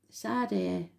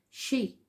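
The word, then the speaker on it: Sidhe: Master number 33, Sade. Ancient knowledge, help and dimensions. Oh, sorry, I pronounced it wrong again. She, S-H-E-E. It's spelled S-I-D-H-E, but you pronounce it she.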